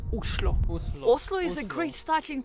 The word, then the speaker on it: Oslo: in Norwegian, the right way to pronounce the name of the capital is Oslo.